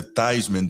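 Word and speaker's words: Theismann: or something told him change it to thyman to rhyme with Heisman but he never won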